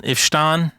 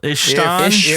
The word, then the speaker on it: Isfahan: If you look up the air base from Ifshan, and I might be pronouncing that wrong, Ifshan Air Base, not Ramstein, Ifshan Air Base, Iran.